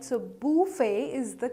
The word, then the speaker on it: buffet: It's actually a French word which is pronounced as buffet, right? So buffet is the correct pronunciation.